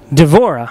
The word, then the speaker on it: Deborah: We're going to go over to Mike's cohort, Deborah. Devora. I'm sorry, it's pronounced Deborah where I'm from.